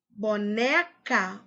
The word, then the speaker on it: boneca: Boneca. Qual é a sílaba tônica? Chama boneca. Boneca. Boneca. O né é a sílaba tônica e as outras são átonas.